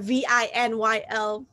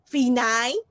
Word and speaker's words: vinyl: For example, V-I-N-Y-L. Whenever we see the word V-I-N-Y-L, how do we say? V-9 like that, right? We used to make mistake, and actually vinyl.